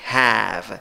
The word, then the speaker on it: have: Tener, en el presente, have, la A que se ríe, have, se escribe con cuatro letras, pronunciación con tres sonidos.